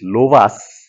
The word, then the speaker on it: Lovász: of uh ERS and loas just a meane so in Hungarian s is pronounced sh SZ is pronounced s so it is loas local Lemma erush and